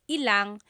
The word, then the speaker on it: ilang: When there's ilan ang, it's usually put together and it's ilang.